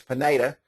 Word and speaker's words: Pineda: I think it's Pineda. I've been calling his name wrong for all this time, and he said Pineda the other day, so it's Roger Pineda, but kind of like potato.